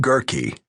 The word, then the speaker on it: Gerky: Colleen Gerky, which rhymes with turkey, had been at lunch when her husband Jason called, saying, "You've got to see this house right away."